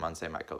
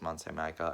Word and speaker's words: Mont Saint-Michel: So I'm going to talk to you guys about stuff from Mont Saint-Michel.